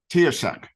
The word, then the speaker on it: Taoiseach: which is, I believe the pronunciation goes Taoiseach.